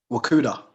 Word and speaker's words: Wakuda: fundamentals of rakuda okay fantastic so did i pronounce it correctly the first time wakuda yeah you did straight away yeah yeah we've